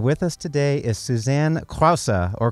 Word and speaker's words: Krause: This is Pinky Gonzalez, and with us today is Susanne Krause, or Krause, if you're a United States listener and have a hard time with the pronunciation.